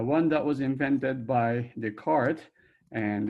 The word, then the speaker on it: Descartes: I don't know what happened to DES in front of his name, but it's called Cartesian, as Cartes, or more properly pronounced as Descartes.